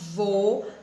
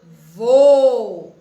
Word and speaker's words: vô: vou na palavrinha vô perceberam que o o já mudou o vó vô já mudou não é o som todas as duas palavras têm uma única sílaba vó vô porém os assentos são diferentes na palavra avó nós temos o acento agudo e na palavra e nós temos o acento circunflexo tá nós vamos aprender